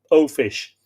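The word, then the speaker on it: eó fis: same old fish oh fish e-o-f-i-s in irish is o fish and it actually means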